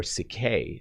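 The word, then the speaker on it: ψυχή: actually in greek uh it is psyche or cicay is how it's pronounced but psyche is literally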